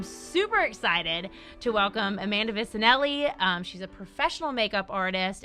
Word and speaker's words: Vicinelly: And speaking of guests, I'm super excited to welcome Amanda Vicinelly.